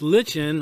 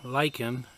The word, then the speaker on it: lichen: at the uh paint this lichen or lichen either pronunciation apparently is correct uh doesn't really have